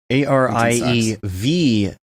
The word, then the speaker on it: Ariew: - Doh - dammit the two V's make it W yeah say you pronounce my name right yes and that's why it's Ari ev yes do you also